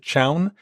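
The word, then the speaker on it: chown: the CH command that's CH H WN I pronounce it Chow it's short for change ownership so we use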